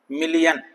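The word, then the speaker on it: million: Silent आई इन आई ओ, मिलियन, मिलियन, fashion, तो यहां आई silent है।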